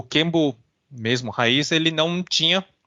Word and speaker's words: kenbu: E é interessante também reforçar que é Kenbo, né?